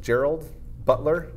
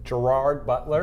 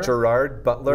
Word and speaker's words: Gerard Butler: Justice okay is it B Gerald Gerald Gerald Gerald Butler how do you say his name Gerard Butler Gerard Butler leonitis for gods of Egypt and London has